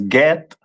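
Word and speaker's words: גד: Which is pronounced in the Hebrew as Get, and the meaning of it is troop.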